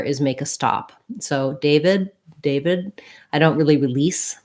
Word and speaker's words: David: never say that word i would never say that name with a t sound but what you might